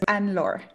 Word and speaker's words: Anne-Laure: name makes my heart beat fast will you pronounce it for me yes it's an lore and and and do you have things